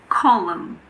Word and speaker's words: column: We don't pronounce N if it comes after M at the end of a word. For example, autumn. It's not autumn. It's just autumn. Column, condemn, dam, hymn. What about the letter P?